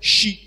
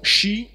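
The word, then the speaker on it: xi: Donc, là aussi, dans la numéro 9, la lettre I est prononcée I. Donc, c'est she. Ok? Après, je peux faire la précision que dans ce cas-là, le che, normalement, est prononcé plutôt palatalisé. Et donc, c'est she. Mais la prononciation she est aussi, donc, comme en anglais par exemple, she, est aussi acceptable.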